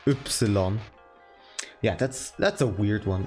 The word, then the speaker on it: Ypsilon: You don't pronounce it as Epsilon. You mean the German pronunciation of Y, which is Ypsilon.